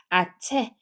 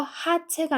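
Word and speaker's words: hache: 얘는 체라고 읽어요 아체 여기 보면은이 h 소리가 안 나는 무음이에요 그래서 하체가 아니고 얘 소리가 안납니다 그래서 여기만 아 소리 나죠 얘는 아까 CH에는 치 소리였 얘는에 소리였고 그래서 합쳐서 아체 체가 되는 거고 아 강세 주시면 돼요 아체 이렇게 되는 거죠 그다음에 얘는 소리가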